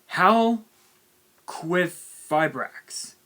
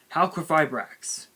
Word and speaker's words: Halqifibrax: It was once known as Crystal Raw Needle Fiber, but they're now pronouncing it as Halqifibrax. Halqifibrax.